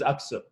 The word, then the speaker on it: Aksu: about introduce what's your last name pronounce it correctly my last name is up so okay so say your whole name coming